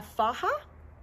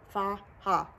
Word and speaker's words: faja: It's pronounced faja. It's spelled F-A-J-A, faja, just so you know. I was calling it a faja. That's a faja. But so ladies in our tummy tuck groups confirmed it is a faja, okay?